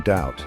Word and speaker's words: doubt: take that for instance the silent B in doubt is a great example of this the silent B comes